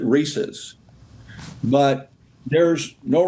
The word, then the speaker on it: Reese's: Is it Reese's or Reese's? Well, the family itself, the members of the Reese family and Hershey, we've always pronounced it Reese's.